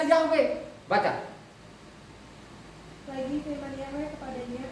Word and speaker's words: Yahweh: tulisannya nanti di situ y he wau he bacanya yahwe baca lagi Firman yahwe